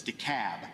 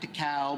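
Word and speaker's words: DeKalb: Yankees in the room it's decab not de Cal not D Cab it's de cab so we got to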